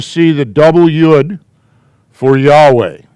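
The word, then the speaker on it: יהוה: In much Jewish stuff, you're going to see the double yud for Yahweh. It's their code reminding them, don't ever pronounce his name.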